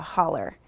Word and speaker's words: hollow: And the title, Whisper Hollow, a hollow, if anybody is familiar with Appalachian dialect, knows that a hollow is pronounced a holler.